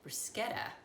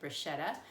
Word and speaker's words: bruschetta: wanted me to make bruschetta, which I have been pronouncing wrong. Apparently for years I've been pronouncing it bruschetta, but bruschetta is a Italian appetizer that's made with tomato and basil.